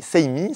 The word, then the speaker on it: Seimi: On a deux berceaux, le premier la marque c'est Seimi, ça s'écrit S-E-I-M-I.